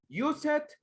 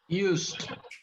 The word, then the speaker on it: used: Use it or what? Use it is incorrect. What is the correct pronunciation, guys? Used.